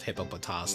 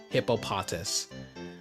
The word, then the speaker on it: Hippopotas: And yes, that is act that is the actual pronunciation of hippopotas, not hippopotus.